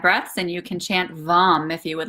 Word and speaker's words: Vam: And remember that the mantra for the sacral chakra is Vam, V A M, or pronounced Vum, V U M.